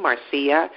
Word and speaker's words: Marcia: type in my name Marcia it's not a Marcia but it's spelled ma are CIA and it's pipe